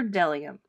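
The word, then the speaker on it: bdellium: B is for Delium. We doubt anyone knows what Delium is, but it's the only word dumb enough to begin with a silent B.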